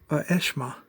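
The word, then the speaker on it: Aeshma: And I believe how you pronounce his name is Eshma. A-E-S-H-M-A. Eshma. So you could have a character named Ajax, and you can have a new hero named Eshma.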